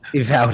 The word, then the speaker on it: Uvalde: How do you pronounce it? Uvalde.